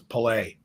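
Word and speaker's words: Pelé: hey actually his name is pelay you tell us now we heard of him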